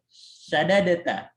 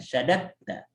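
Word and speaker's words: شَدَدْتَ: Tapi karena dia dal dengan ta itu idgham, biasanya diidghamkan syadatta. Tapi tetap bentuknya tulisannya dipisah. Bacanya aja yang diidghamkan, syadatta. Karena dal dengan ta itu makhrajnya sama.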